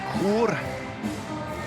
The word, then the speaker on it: Chur: Number 9, Jeremy Chenal from the city of Chur. Always a difficult one to pronounce if you're not Swiss. The CHs in Switzerland are always difficult ones to pronounce in Swiss German.